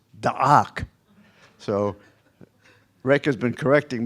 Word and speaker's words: Deak: It's not d e a k. It's I don't it's not even deak which I used to say. It's dak.